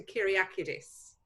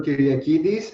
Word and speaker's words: Kiriakidis: by the amazing doctor kiryakiris from embryol have i pronounced your name correctly probably not it's fine sarah don't worry my name is doctor kiriakidis everybody calls me my